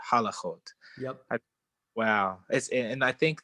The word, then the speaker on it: halachot: Do not pronounce the word halichot, but halachot.